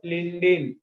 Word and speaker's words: lindane: जीए में गामा मत लिख, लिख देते पहले spelling. Gamma isomer is called as gamoxine, GAMMEXANE, gamoxine हो गया, GAMMEXANE, gamoxine, और लिंडेन, LINDANE, लिंडेन, which is used as insecticide।